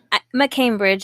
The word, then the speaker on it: McCambridge: McCambridge is just McCambridge. If it's MAC.